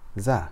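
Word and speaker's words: زاي: a DOT on top it makes a z sound like the buzzing of a b z so repeat after me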